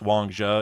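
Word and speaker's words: Wang Zhi: which, by the way, Wang Ji is actually pronounced Wang Zhe. It's just teching normalized Wang Ji, and it's way funnier, so we stick with that.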